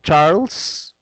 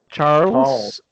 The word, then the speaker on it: Charles: tower okay so the you don't pronounce the e so so it's silent E so Charles Charles yes Charles Street okay